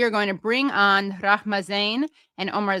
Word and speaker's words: Rahma: Well, thank you guys so much because Rahma is a different name from Rama, which is what we're close friends, so you have to pronounce my mayor's well.